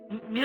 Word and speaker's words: Mu: Mu is mu is pro commonly pronounced as the Greek letter mu.